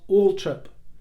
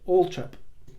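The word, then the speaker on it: Althorp: suspense of that era Diana's father confirmed that indeed the pronunciation was Alp and he said that that was definitely correct and that's how his grandfather and his great auntie would pronounce it Ultra and it was in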